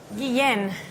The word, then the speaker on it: Guen: I'm terrible with Guen. Guen. There you go. Guen. Come on. Come on Ben. Guen. It rhymes.